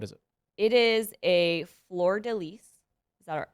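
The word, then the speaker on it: fleur-de-lis: you would pronounce it floor daily but in french you do pronounce the s yes it's like counter-intuitive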